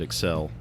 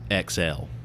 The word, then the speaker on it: Excelle: people would pronounce it Excel but the way I always heard it pronounced was XL like exhale you know like the the emphasis was on the cell almost exhale well she signed things